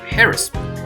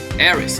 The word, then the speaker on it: heiress: Wait, you said heiress? You are the daughter... 查一下啊。千金小姐的意思。千金小姐。发音呢？Heiress H 不发音 Heiress.